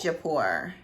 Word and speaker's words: Jaipur: And this is JAIPUR I think it's pronounced Jaipur.